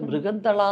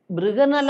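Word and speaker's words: ബൃഹന്നള: ആദ്യത്തെ പടത്തിൽ അതിന്റെ ഡാൻസ് മാസ്റ്റർ ആ ഡാൻസ് മാസ്റ്ററെ മൃഗന്തള എന്ന് വിളിക്കാൻ പറഞ്ഞു മൃഗന്തള അപ്പോ മൃഗന്തള എന്ന് അവരുടെ ഉച്ചാരണം മൃഗനല അതായത് അർജുനൻ ഉർവശി ശാപം കൊണ്ട് അർജുനൻ ഒരു പെണ്ണായി മാറിയ ഒരു ഒരു സംഗതിയുണ്ട് കഥയിൽ ആ പേരാണ് അപ്പൊ അത് ബൃഗനല എന്ന് വിളിക്കാൻ പറഞ്ഞു അപ്പോ ഞാൻ പറഞ്ഞു നമസ്തേ മാസ്റ്റർ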